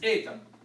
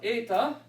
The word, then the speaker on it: eta: Eta looks like an H, looks like the English H, but it's always pronounced, roughly speaking, as the same as the epsilon.